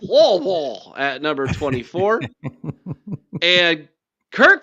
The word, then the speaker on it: Louisville: You got to say it like that. Like you have marbles in your mouth. Louisville at number 24.